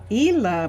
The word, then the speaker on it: Isla: and let's let's have Ela be here so like Island i s l a n d has the silent s in her name Ela is her name and she is Trent's